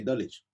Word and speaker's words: Dulwich: Or like, there's an area in London called Dulwich, but I say Dulwich.